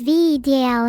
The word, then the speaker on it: Vedal: Val, pronounced as V DL, in case you're a